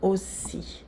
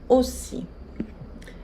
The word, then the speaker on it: aussi: Elle a 42 ans aussi. Ela tem 42 anos aussi também. Vocês veem aqui a junção da letra A e U fazendo o som O. Elle a 42 ans aussi.